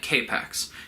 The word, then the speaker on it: K-PAX: produce he's the alien from the titular planet k-pacs and don't worry you'll never forget the planet's